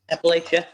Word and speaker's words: Appalachia: that how you say it Appalachia the mountains Appalachia yeah Appalachia okay those people got really really